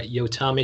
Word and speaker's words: Yotam: You are Yotami Salami, which teaches us how to pronounce your name. That is exactly right. It's my little trick. Yes, It and doesn't rhyme Yotam. with ham, it rhymes with salami.